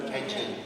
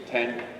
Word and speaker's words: Tianjin: with its new location in how do you pronounce that, Bill? Tianjin. Tianjin.